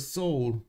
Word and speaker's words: Seoul: Seoul is pronounced kind of soul.